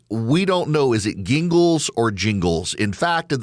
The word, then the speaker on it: Gingles: And we don't know, is it Gingles or Jingles? In fact, at the Supreme Court today in oral arguments, about half of them are saying Jingles and half of them are saying Gingles. It's Gingles, and nobody can institutionally remember